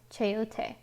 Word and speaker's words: chayote: but i looked it up and it is pronounced chayote napa cabbage collard green collard green green onion